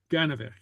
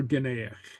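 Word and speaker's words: gainmheach: And sometimes you'll hear it as Ganavik. Okay, yeah. Ganavik. Yeah, Ganavik. Ganavik or Ganeach.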